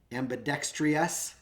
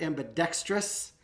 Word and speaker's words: ambidextrous: a syllable in there ambidextrius instead of ambidextrous that three just makes you all need like a tranquilizer and a therapy when when you hear three syllables over a tranquilizer and a therapist when you hear three syllables over two i always get a